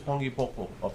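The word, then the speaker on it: panipopo: This is pangi popo. It's spelled pani po. Pani po. P-O-P-O. Pangi popo. But someone has pronounced it pangi popo.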